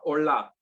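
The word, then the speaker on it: עֹלָה: El primer tipo de ofrenda o sacrificios se llama olá, no de hola de saludo, no, sin la H, olá con acento en la A.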